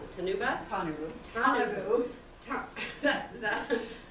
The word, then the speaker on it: Tanabu: dedication and support to the I can never pronounce it, Tanabu. Is that? Tanabu.